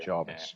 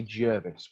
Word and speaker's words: Jarvis: Yeah, I did hear Jarvis. Yeah. Okay. I was about to say Jervis, but obviously that's a lad that I coach.